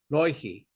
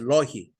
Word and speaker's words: Loihi: And the Intel was called Loihi. I don't know, some people pronounce it Loihi, but it's actually nothing to do with Hawaii. Okay. So it's a Loihi.